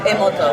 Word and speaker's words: Emoto: Is it Emoto? Emoto.